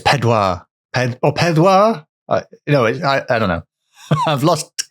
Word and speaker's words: Pedwar: What's 4 in Welsh? I can't remember. Pethra? Yeah, I think so. Pethra. It's Pedwar. It's Pedwar. Pedwar?